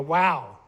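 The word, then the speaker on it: וו: This is known as the vav, this modern day Ashkenazi Hebrew. Now, according to Hebrew linguists, Hebrew scholars, they say the vav was originally a wow, and pronounced as a W.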